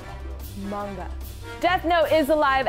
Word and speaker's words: manga: Oh, Magna. Manga.